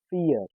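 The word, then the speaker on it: vier: Fear.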